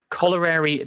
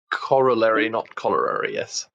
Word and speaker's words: corollary: should say of a brain signal called a corollary discharge I probably mangled the pronunciation of it's not like a really gross thing these were discharge and said yeah it would be Corollary thanks past Simon it is in fact pronounced